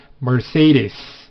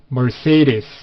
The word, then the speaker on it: Mercedes: 표현은이 메르세데스를 쓰셔야 됩니다 영어식 발음은 Mercedes Mercedes 이렇게 발하 돼요 그래서 I can't afford